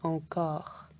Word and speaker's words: encore: On ne dit pas en cours comme métro, on dit encore. C'est un peu différent.